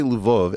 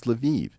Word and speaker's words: Lviv: border now by the way if I say lvo everyone's going to correct me and say no no Eric it's Lviv it's like no these SP these cities all